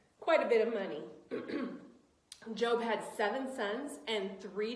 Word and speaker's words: Job: of job yes not it is spelled j-o-b and you think it's job but it's actually job job was a good